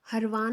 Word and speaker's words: हरवान: तो next one इज़ अवर हरवान lake या हरवन lake. ठीक है, जैसे भी आप इसको प्रनाउंस करें।